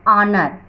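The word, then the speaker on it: honor: एन ऑनर, यहाँ भी H silent है और इसका प्रोनंसिएशन क्या है, अ, इस तरीके से हम इसको प्रोनाउंस करेंगे है ना, अ ऑनर, इसलिए हमने इसमें एन लगाया।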